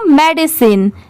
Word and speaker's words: medicine: एंड नो मेडिसिन, इसे पढ़ेंगे मेडिसिन, MEDICINE मेडिसिन। अब अगर आपको इसकी स्पेलिंग इजीली याद रखनी है तो देखिए ME